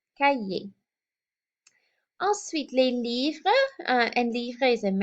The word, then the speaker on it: cahier: And you've probably noticed already in learning French that the H is silent in French. So le cahier, we don't hear an H sound like we would hear in English. So cahier.